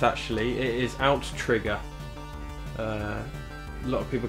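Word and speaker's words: OutTrigger: it's developed by aim to again that's commonly mispronounced actually it is out trigger a lot of people call this outrigger but it is to tease out to trigger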